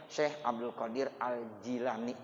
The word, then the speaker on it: Syekh Abdul Qadir Al-Jilani: Ada yang bilang Syekh Abdul Qadir Al-Jilani, tapi saya dapat riwayat dari guru saya, itu bacanya Syekh Abdul Qadir Al-Jilani.